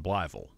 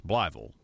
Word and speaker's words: Blytheville: put that you know pronounce the th e and in Blytheville it's not blytheville it's it's Bly ville the Fort Chaffee Redevelopment